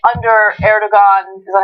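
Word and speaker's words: Erdoğan: So, I could see how under Erdogan, is that how you say his name? Erdogan.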